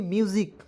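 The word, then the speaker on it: music: जाएगा उसका बा देखिए एम यू एस आई सी मौसी नहीं म्यूजिक बहुत लोग मसी पढ़ लेता है बिल्कुल गलत है एम यू एस आई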